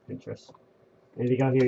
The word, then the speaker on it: Pinterest: Yes, I think that's how you pronounce it. Pinterest or Pinterest. It's Pinterest.